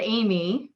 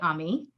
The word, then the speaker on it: Ami: off since high school i have taken back the ethnic pronunciation of my name uh i was amy but now i go by ami um so i'm amish